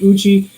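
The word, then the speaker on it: Eucha: the locals called lake it's spelled e-u-c-h-a how they got the a to become i is the indian thing i guess i'm not sure it's like uchi we go there quite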